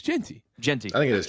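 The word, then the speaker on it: Jeanty: It's Genty. Genty. I think it is Genty. Yeah. Hard to argue with Ashton Genty.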